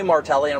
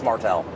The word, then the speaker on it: Martelle: every time and I they were like okay martellian like it's Martel I've never lived in